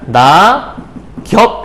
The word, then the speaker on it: 낙엽이: 거냐면 아이고 b 하네요 낙엽이 라고 하는 거니까 낳아 겹 이라고 요렇게 우리가 발음을 하겠죠 그래서 최종 발없는 새